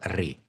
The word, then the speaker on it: Ray: Rakhi Ray, we can pronounce as a Ray.